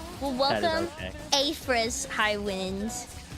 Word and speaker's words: Afress: Yeah, I had somebody call me Aspras just yesterday. Wait, like on purpose to give you like a nickname or did they just genuinely No, they just they just could not pronounce it. I think it was last night or the night before they were like assrat like that is not how you say that.